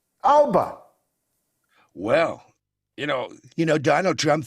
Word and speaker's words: Alba: How do you pronounce Alba? Well, you know, Donald Trump thought Alba made vintage radios in the UK. You know, it's a very strange thing. But I'm told it's Alapa.